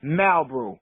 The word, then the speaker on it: Malbrew: It's spelled exactly the same, but I pronounce it Malbrew. Ralph pronounced it Marlbrew.